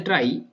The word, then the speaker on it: trie: right so problems is a try pronounced as a try to or prefix tree